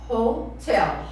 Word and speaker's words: hotel: Então, a pronúncia é hotel. Sílaba forte na segunda.